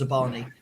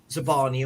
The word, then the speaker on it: Zabarnyi: I believe it's pronounced Zabarnyi.